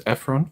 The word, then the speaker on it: Ephron: And just so persons are familiar with you um fans media the pronunciation of your first name is Efron correct? Yeah Ephron e all right so tell us a